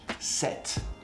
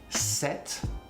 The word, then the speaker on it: sept: Think about 7 in French. Sept. Sept is E.